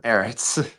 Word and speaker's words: Ehritz: Is that the correct pronunciation of your last name there? Ehritz.